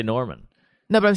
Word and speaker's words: Normand: hilarious yeah my purse is a drunk mark normand and by the way do you pronounce the d no such as mark norman it's a french name and some people give